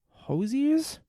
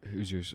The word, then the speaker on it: Hoosiers: in Blue Velvet and Hosiers? The latter of which saw him nominated for Best Supporting Actor. Hosiers. I've never seen that. Sorry, you pronounce it? Yeah, Hoosiers. Oh, Hoosiers? Yeah, Hoosiers.